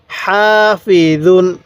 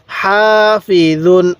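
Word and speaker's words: حافظون: হা ফা জের ফি জ দুই পেশ দুন হাফিজুন কিভাবে পড়বেন হাফিজুন আরেকবার বলুন হাসিদিন হাফিজুন এরকম ভাবে শিখবো এরপরে বলবেন এই হরফের উচ্চারণগুলো আমরা কিভাবে পড়বো তাহলে দাল আলিফ জবর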